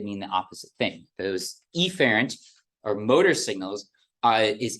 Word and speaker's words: efferent: do in lecture generally the pronunciation of these is Affair and efferent which sound almost identical I will exaggerate the sound of the first vowel so that it's afferent and efferent uh just to make